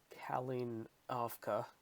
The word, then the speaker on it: Kalinovka: Hey guys, so Commander Buckchuck here, and today we're going to do the Kalinovka campaign in Final Offensive. Just learned how to pronounce that correctly, thanks to a friendly Discord member.